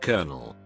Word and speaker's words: colonel: me sin English how is there not an AR in colonel colonel is a mix of Italian French and Spanish Italy spelled it colonello France changed it to coronal Spain pronounced it kernel not sure how it was spelled ultimately the spelling became a mismash of the French and Italian spellings while maintaining the Spanish pronunciation cantones has like 20